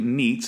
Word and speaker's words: Neitz: His name is Kerry Neitz. Am I saying it right? Yep.